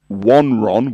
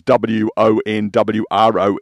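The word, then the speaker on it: Won Wron: it was Devon, Woodside, Wonron, which is Wonwron, Welsh Pool.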